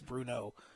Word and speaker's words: BruNeaux: BruNeaux is how you spell it. BruNeaux. Bruno.